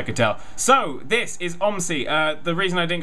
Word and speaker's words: OMSI: Bus Simulator which I will now be referring to as omy uh I have no idea which way you're supposed to pronounce it but it's going to be pronounced omy because it's a fun word uh this is uh